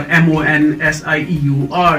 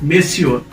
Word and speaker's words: monsieur: story it is for m-o-n-s-i-e-u-r that is measure measure not monsieur it's miss your misuse